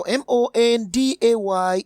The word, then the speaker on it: Monday: that is underlined, because pronouncing M-O-N-D-A-Y will give us Monday. That means it actually ends with E sound, and the E is found in pretty.